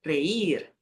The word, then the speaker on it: reír: Bem como o verbo reír. Reír. Reír. Tem no começo e tem no final.